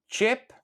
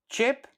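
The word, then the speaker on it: qepë: Now, remember that the e with two dots at the end of the word in Albanian, normally when we speak it's silent.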